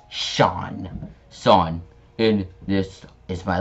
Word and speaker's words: Seam: The name is Seam. Pronounced Sean.